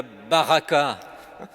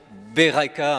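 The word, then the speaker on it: ברכה: Alors, la première question, avez-vous la baraka ? Alors, ce n'est pas la bonne prononciation, Beraka en hébreu.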